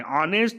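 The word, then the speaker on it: honest: आता ऑनेस्ट मॅन आहे ऑनेस्ट हा शब्द क्चुली स्पेलिंग मध्ये येच आहे पण त्याचा जो उच्चार आहे तो व्हावेल सारखा स्वरासारखा होतो म्हणून त्या ठिकाणी हा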